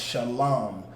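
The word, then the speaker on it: שלום: pronunciation but this is even though it says sha la la it's pronounced Shalom because the Shah is pronounced independently the line and ma are connected which means there one word which means la and ma becomes long because Shalom alright yeah how is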